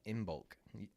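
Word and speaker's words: Imbolc: a pagan holiday called inbulk have you ever heard of it before maybe you'll pronounce it like uh shipping in bulk exactly make sure that's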